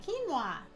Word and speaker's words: quinoa: they are also all gluten-free let's start with quinoa this is how we pronounce it some people have different ways they